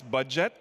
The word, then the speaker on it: Budjette: that by the way his name is pronounced as budget but please don't ask